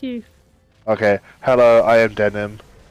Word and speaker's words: Denim: Hello, I am Denim. It is pronounced yes, like the jeans.